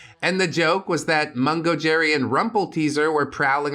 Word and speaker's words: Mungo Jerry: Yes, that is pronounced Mungo Jerry.